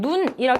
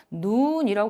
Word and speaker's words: 눈: 학습할 기회는 많이 없지만 동일한 눈이라고 하는 단어를 발음할 때 어떤 경우는 눈이라고 짧게 발음할 수 있지만 어떤 경우는 눈이라고 길게 발음하는 경우가 있어요.